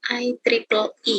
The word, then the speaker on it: IEEE: Ya, bacanya IEEE ya. IEEE. IEEE itu bacanya IEEE.